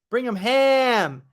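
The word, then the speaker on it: Birmingham: bring him him before bring him ham like ham like bologna cheese ham not him like him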